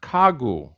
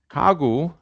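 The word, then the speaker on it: 가구: the same letter but as you pronounce it it's voiceless initially it's voiced so it's pronounced ka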